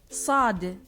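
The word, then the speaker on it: صاد: Sad. Sa. Like the S in Sad, yet heavy in pronunciation. Sa, but not sa. Similar to the English letter S, but more emphatic and darker.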